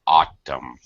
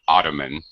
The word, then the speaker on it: autumn: temper ok one thing autumn pronunciation autumn autumn yeah not ottoman you pronounce a totally different word are you familiar with